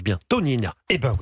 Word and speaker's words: Tognina: Elle s'appelle, est-ce que je le prononce bien, Tonina. Eh ben oui, Tonina, formidable.